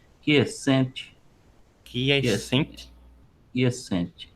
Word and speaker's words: quiescente: questão da pronúncia é quiescente, quies- Quiescente, quiescente, é a ok, busca pela quiescência.